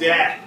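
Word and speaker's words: De'Ath: She's getting her PhD in Vancouver, and her last name is spelled D-E apostrophe capital A-T-H. So it's death.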